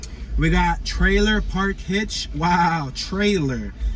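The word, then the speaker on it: Treylor: We got Trailer Park Hitch. Wow, trailer. Not spelled like the normal word trailer, but like Trey, T-R-E-Y-L-O-R. Trailer Park Hitch.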